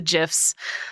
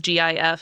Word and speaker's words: GIF: that way just because GIF is uh with the the soft G sound, the G.